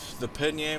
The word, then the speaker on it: Pallegney: Alright, so this map is the Pallegney map, is how I say it. That's how I've heard it pronounced. Almost like the pasta name, even though it's spelled totally different.